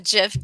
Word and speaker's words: GIF: that our announcer friend said it with a soft g instead of a hard g everybody knows it's pronounced gif but i guess i